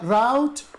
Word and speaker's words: rout: والكلمة التانية اللي هي في بي غريبة عليك شوية اللي هي R O U T نطقها route وده الاندحار تمام كده؟